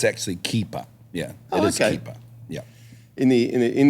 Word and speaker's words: Keepa: up did I say that correctly you did keeper keeper keeper because I've heard it pronounced I've heard it pronounced keer before yes um it's not that though it